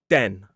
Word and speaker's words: then: And quite commonly a lot of learners confuse it with the du sound like in the word then.